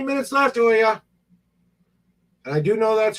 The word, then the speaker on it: Olga: I'm mispronouncing her name a little bit. Olga. The spelling of her name is Olga. How you like it said is Olya.